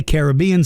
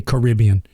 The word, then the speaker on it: Caribbean: One of the ones that I always get stuck on is the Caribbean, because some people say Caribbean, some say Caribbean, and both are right.